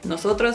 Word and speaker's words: nosotros: Cuando están T y R juntas en una palabra en español, se pronuncia cada letra separada. Nosotros en inglés decimos chur